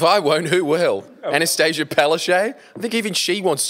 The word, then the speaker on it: Palaszczuk: Anastasia Palaszczuk? I think even she wants to lose. Oh, that's how you pronounce her name.